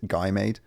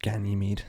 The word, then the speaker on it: Ganymede: right so the first two were callisto and guy made and they were just hammered with craters very similar to our own moon it's just it's just been hammered over time it's actually pronounced ganymede oh thank you sean thank you problem no